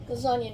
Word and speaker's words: lasagna: All right, let me see if I can't find out what I did with said lasagna noodles. Uhhuh. I spy with my little eye. Lasagna rhymes with Tanya.